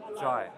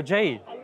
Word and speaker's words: Jai: Jai. Jai. Yeah, J-A-I, yeah. Oh, Jai. Yeah, but it's pronounced Jai.